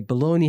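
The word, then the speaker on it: bologna: dumb by the way baloney has a g in it too guys just in case you dummies didn't know happen just in case it's spelled b o l o GNA a just in case that always threw me off as a kid too cuz I be like bagna right it's cooked yeah it's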